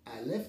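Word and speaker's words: אלף: Alèf, c'est la prononciation alf, nous trouvons un un alèf, nous trouvons bien sûr à la mède et nous trouvons un feu.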